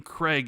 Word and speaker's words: Craig: Craig Jackson in Fort Worth.